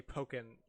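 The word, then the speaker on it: Pokkén: has said tekken so you say pokken like attacking because that's okay that's the point that's why it's called pokken is because it's after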